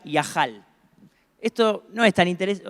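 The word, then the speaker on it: יחל: Una se pronuncia Yahal.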